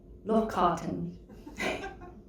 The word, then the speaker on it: Lochkarten: Lochkarten.